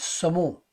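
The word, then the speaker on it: saumon: m-o-n all right in French it's Samu s-a-u-m-o-n but we know it in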